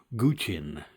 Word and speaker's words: Guqin: It's spelled gu i n, but it's pronounced guuchin.